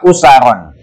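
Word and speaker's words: أُسَرًا: hayatil mukallafin afradan wa usaron. Bacanya itu hamzahnya di dhamma ya, wa usaron wa jama'atin wa ummatan.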